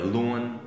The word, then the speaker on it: luôn: Những từ có u, o, n nhớ luôn thì kiểu như là họ bỏ chữ o và thêm một âm kiểu ở cuối đúng không? Luôn. Những từ có ie thì kiểu như bỏ chữ e.